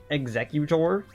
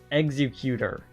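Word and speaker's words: Exeggutor: It's Executor, which is how they pronounce it in the anime, and Executor.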